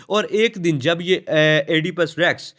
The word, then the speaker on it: Oedipus Rex: यह एडि पस रेक्स इसे ओपस रेक्स भी पढ़ते हैं एपस रेक्स भी पढ़ते हैं जैसे आपको इसके स्पेलिंग अच्छे से याद रह पाए आपने वैसे इसको प्रोनाउंस कर लेना है कोई इशू नहीं बस स्पेलिंग आप अच्छे